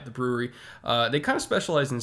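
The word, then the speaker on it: The Bruery: There's a microbrew, 10, 15 minutes away from me, called The Brewery over in Placentia, California. Not spelled like B-R-E-W. It's B-R-U-E-R-Y, The Brewery.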